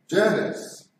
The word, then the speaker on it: Janus: Right, read Janice, brother. Janus, an ancient Roman religion and myth, pronounced is the god of beginnings, gates, transitions, time, duality.